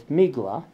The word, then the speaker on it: Megillah: And the Yanina Jews pronounce Megillah, a scroll, as Migla, or Tevila, for immersion, as Tivla, which conforms to epirotic speech.